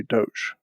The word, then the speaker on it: doge: got named which means you have to say doge so when the founder is alive and they